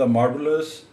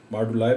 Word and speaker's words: moduli: ये actually British accent में यानी ब्रिटिश प्रोनाउंसिएशन में मॉडुलाई पढ़ा जाता है, और अमेरिकन में मॉडुली भी इसको बाज़ लोग पढ़ते हैं। तो आपने इसको मॉडुलाई ही पढ़ना है।